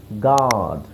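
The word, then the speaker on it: guard: colleague ಮತ್ತೆ ಇಲ್ಲಿ ನೋಡಿ ಯು ಸೈಲೆಂಟ್ ಆಗಿರುತ್ತೆ ಜಿಎ ಆರ್ ಡಿ ಹೇಳಿದ್ರೆ ಸಾಕು ಗಾಡ್ ಗಾಡ್ ಆಮೇಲೆ ಇಲ್ಲಿ ಇಲ್ಲೂ ಯು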